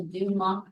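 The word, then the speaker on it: Dumas: in the class the Duma method right what did you call it the Duma method the Duma uhuh d m a s the French don't pronounce s's at the end okay so that's mular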